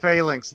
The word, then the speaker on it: phalanx: Yes, it's pronounced phalanx.